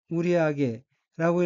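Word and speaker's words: 売上: 셋째 줄의 어휘는 한자가 한국어로 일방이고 일본어로는 it보우데라고 읽으며 it보우데는 뭐뭐 한편 이란 의미의 문형입니다. 다음 어휘는 한자가 팔매, 윗상자가 들어있고 일본어로는 우리하게라고 읽으며 우리하게는 매상, 매출, 매상고를 뜻합니다.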